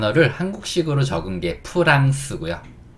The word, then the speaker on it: France: 한국어식 으로 쓰인 단어는 "France" 입니다 . 원래 영어 발음 은 "France" 가 아니라 "France" 입니다 . 그게 원래 발음 이에요 .